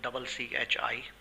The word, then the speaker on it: gnocchi: Its spelling is Gnocchi. So first we need to create user and service. For that user, I'll be calling it as Gnocchi, keeping G as silent.